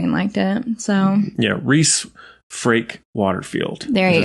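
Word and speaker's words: Rhys: we got noticed by the man the legend Rees rise it's Reese oh it's Reese yeah sorry I just butchered that you probably turned off but he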